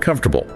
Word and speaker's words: comfortable: It has four syllables. Comfortable. But nobody says that. What do we say? We crush the middle. It sounds like three syllables or even two and a half. Comfortable. The ore and the a both get reduced or disappear entirely.